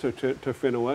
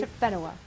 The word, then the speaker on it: Tofenua: It's pronounced Tofenua. It's a bit of a tough one to say. Tofenua.